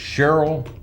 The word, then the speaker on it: Sherrill: We're talking to, is it Sherrill? Correct. Braswell. Correct, yes sir. I'm not great with pronouncing names. Sherrill Braswell, and you're with the Statewide Insurers Group.